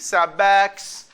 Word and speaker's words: backs: Because Voiceless after voiceless. Okay? So again, voiceless after voiceless. Look at these words. They end with voiceless sounds. So we need, we pronounce it backs.